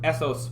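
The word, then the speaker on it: ethos: you might call it most of persuasion with essos pathos and logos that's how those are pronounced um that had to do with credibility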